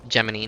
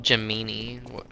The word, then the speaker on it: Gemini: It's Geminy, not Jimini. I'm I'm getting like my words like mixed up. Like Jimini, Gemini, Gemini. Why are there so many pronunciations for like so many words?